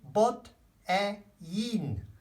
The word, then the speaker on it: botellín: Oh, remember the pronunciation? Un botellín.